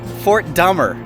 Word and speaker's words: Fort Dummer: We've got 30 to 45 minutes to hit Fort You're saying it wrong already. Fort Dummer Fort Dummer.